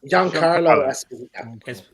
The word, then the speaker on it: Giancarlo Esposito: How do you pronounce that? Giancarlo Esposito.